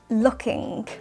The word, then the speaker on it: looking: pronunciation hot looking looking we are not pronouncing the final g or G sound in looking looking how we pronounce it is looking looking and this would be